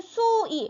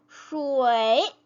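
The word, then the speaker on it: shuǐ: 그래서 물 숫자예요 그냥 그러면은 수이 수이 슈이 이렇게 될 거 같은데 슈이 슈이 이렇게 읽어요 다시 한번네 이렇게 소리가납니다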